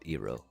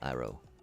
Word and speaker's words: Iro: And I I know I know I said eero. Sorry. Sorry. Phonetically phonetically if we're thinking about the Eastern Asian type of cultures where this was, you know, where Avatar gained a lot of inspiration from, right? Definitely uh Roa Iro, but we understand Iro,